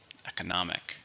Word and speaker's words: economic: 4, stress on the third syllable. Economic.